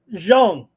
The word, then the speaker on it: Zhang: Ramon, how do you say that last name? Jean. Well, yeah, right. Zhang.